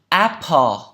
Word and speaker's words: apple: Apple, apple, apple, a, a, a, a, a, a, apple.